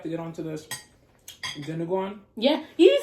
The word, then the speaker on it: Dinuguan: So now we have to get on to this Dinuguan.